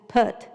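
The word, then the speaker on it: Phert: it's not put and it's not put it's put according to joyce so anyway it's spelled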